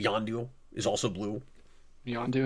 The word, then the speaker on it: Yondu: Yondu, his name rhymes with blue.